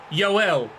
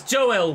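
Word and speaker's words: Joël: gone in and I was pronouncing it yoel it's not Swedish he's Dutch it's Joe well pero I apologize for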